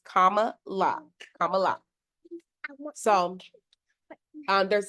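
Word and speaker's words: Kamala: on CNN and the lady was calling her name wrong and I was like oh no let me get this right it's Comm La Comm La so um there's this movement we're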